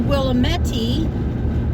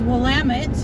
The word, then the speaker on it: Willamette: in the Willamette Valley not the Willamette II like I've heard it pronounced its Willamette just in case anybody's